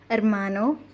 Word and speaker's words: hermano: for example and third h is always silent in spanish for example hermano or ombre that's all